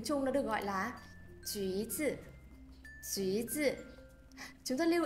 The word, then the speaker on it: 橘子: y dài thì khi đó sẽ được bỏ đi dấu hai chấm. Do vậy ở đây chúng ta nhìn thấy là chữ U nhưng tuy nhiên lại được đọc là U. Do vậy phải đọc là 橘子.